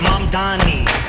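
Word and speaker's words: Mamdani: The name is Mom Donnie. M A N D A N I. You should learn how to say it.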